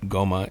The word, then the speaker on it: Ngoma: might call it gigi because the the n is silent right so you probably it's probably gertrude goma it's n-g-o-m-a um she attempted to